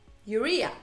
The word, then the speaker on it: urea: for you know glycerin alexa how do you pronounce urea urea there we go which is a pretty well